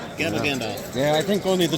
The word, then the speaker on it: Gabagandalf: Gabagandalf. Gabba Gandalf.